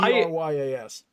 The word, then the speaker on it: Dryas: So it's spelt almost like it sounds. It's pretty close. So it's Dryas.